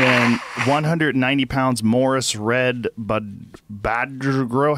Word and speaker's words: Badgro: And then 190 pounds Morris Red Badgro. How do you say that name? B-A-D-G-R-O. Badgro. Badgro. He's growing bad.